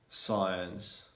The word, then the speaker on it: science: better communication yeah so the letter c is normally going to be silent when it comes yeah when it comes after the letter s and before i e or y so for example